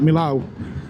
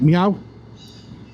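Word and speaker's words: Millau: Twisties up to well, I've been saying it wrong obviously for years, so I call it Milo where the big vioideuct is, but I was watching uh a French reviewer who pronounced it like a as a cat, like meow. Apparently, that's how the French say it.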